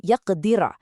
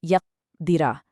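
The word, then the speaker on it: يقدر: Next, we have a silent qaf in yaqdira. Qaf is a heavy letter and it's a qalqala letter, so give it a deep, strong bounce. Don't just say yaqdira with no echo.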